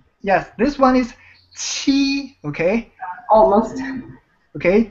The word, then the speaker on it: 七: So when you pronounce this T sound, actually the tip of your tongue will the surface of the tip of your tongue will touch the front of your palate.